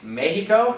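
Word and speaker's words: México: maybe place names like have you ever heard of this place may he go okay if they X is pronounced like the J in Spanish which is the H sound okay like so let's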